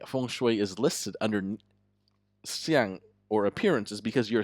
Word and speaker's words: 相: So it has to do with, for example, you might have heard of physiognomy, which is pronounced xiang in Mandarin.